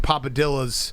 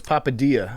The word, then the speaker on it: Papadia: there watching games and papadillas you're pronouncing it like a gringo it's papadia papadi there's actually no l in it no it's dillas papadia